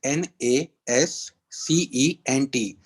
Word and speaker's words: nascent: the group chat so it is spelled as n a s c e n t nation it's pronounced as nascent so it means early stage